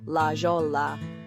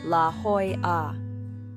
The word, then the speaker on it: La Jolla: First up is commonly mispronounced La Jolla, but the correct pronunciation is La Jolla.